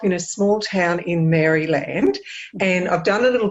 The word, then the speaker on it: Maryland: How do you pronounce it? Maryland. Maryland.